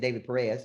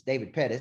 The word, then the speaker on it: Pettis: book today and uh I think David Perez it's David Pettis how he says it so I'm finally starting to say it correctly and he said man